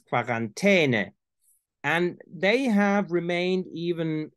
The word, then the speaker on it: Quarantäne: are essentially two, and there is quarantene, which is very near to French quarantaine. And you have in Austrian German and Bavaria and many parts of southeastern Germany pronunciations that resemble more the Italian quarantena, because it's quarantene.